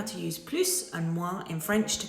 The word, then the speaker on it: plus: If the next word starts with a vowel, we pronounce the S, but it kind of almost sounds like a Z sound.